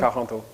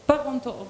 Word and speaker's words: Parenteau: So say it the right way. Parenteau. Parenteau.